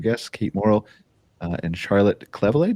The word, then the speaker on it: Cleveley: We have a couple great special guests, Kate Morel and Charlotte Cleveley. Did I pronounce that right? Almost. Cleveley. Cleveley. Okay. All right. That's actually easier to say than Cleveley, so I'm good.